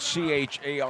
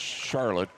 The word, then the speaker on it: Charlotte: daughter and her daughter his daughter her name is spelled c-h-a-r-l-o-t-t-e and you would assume that it's pronounced Charlotte and it is not it is pronounced Charlotte